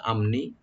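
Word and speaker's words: الأمن: মিনাল আমনি, মিনাল আমনি, এখানে আমনি হামজা মিম এখানে এজাহার করব আর নি বলবো, মিনাল আমনি।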